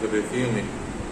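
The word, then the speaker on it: résumé: The pronunciation is resume.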